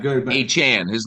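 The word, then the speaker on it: Achane: But Achan, his name is Devin Achan, not Achan, by the way.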